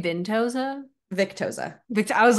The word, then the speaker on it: Victoza: We have poor innocent Maggie, 16 years old, who was put on Victoza. Victoza. You say Vintoza?